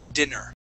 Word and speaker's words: dinner: So this word here, when you have two N's, okay, that is dinner. Okay. Dinner. With one N, that is diner.